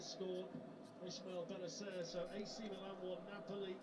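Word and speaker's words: Bennacer: similar in surname, which I said Bentancur, but it's pronounced differently. Yeah. AC Milan have gone ahead against the Italian league leaders Napoli. Benacer scored. Ismail Benacer.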